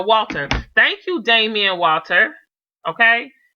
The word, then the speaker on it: Walter: Like, it had got to that point, and I was just like, thank you, Damian Waters. Did I say his name right? I think I said it wrong. Yeah, no, Walter.